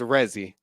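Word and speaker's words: Resy: thing you saw what how you pronounce the gentleman's first name uh my name is rezzy r-e-s-y the name is very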